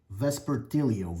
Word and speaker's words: Vespertilio: There goes the Vesper Millio. Am I pronouncing that right? Let me check again, guys. Vespertilio.